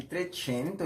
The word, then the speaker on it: Trecento: A primeira dessas fases é chamada de Trecento, e sim, a gente pronuncia com essa expressão mais italiana, porque vamos lembrar, o Renascimento ele surge na Itália e se espalha aí depois para outras sociedades na Europa.